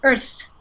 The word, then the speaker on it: earth: of uh disappeared there I didn't hear the th sound so it's more like I heard earth quakes so Earth it's really good to um make sure you add that th sound so and that's pretty